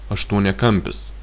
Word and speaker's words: aštuoniakampis: You see, the stress is mostly on the at the end of the first root. Trikampis, keturkampis, penkiakampis, šešiakampis. Only aštuoniakampis. For aštuoniakampis, the stress is on m, octagon.